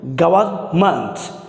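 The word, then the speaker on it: government: ये देखें बड़ा वर्ड सी ओ वी ई आर एम ई एन टी, इसे प्रोनाउंस करेंगे हम गवर्नमेंट, गवर्नमेंट नहीं कहेंगे गवर्नमेंट नहीं कहेंगे गवर्नमेंट गवर्नमेंट, आर को साइलेंट कर सकते हैं गवर्नमेंट।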